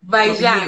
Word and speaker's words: Vaillant: ¿Se pronuncia bien tu apellido? Bayán.